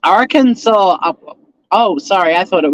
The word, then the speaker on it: Arkansas: When I went to America, I knew that Arkansas was pronounced Arkansas, but to annoy my family, I kept saying Arkansas. They got so fucking pissed off with me. It's Arkansas.